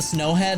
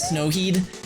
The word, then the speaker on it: Snowhead: Like when he went into Snowhead, he kept on calling it Snowheed, and I was like, you gotta be trolling.